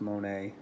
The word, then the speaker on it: Monet: Kroy which was em actually I think her name is pronounced Monet she's French anyway the artists on